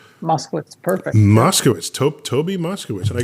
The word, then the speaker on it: Moskowitz: you Toby and I want to get the pronunciation of your last name Moskowitz Moscow is taupe Toby Moscow and I got a little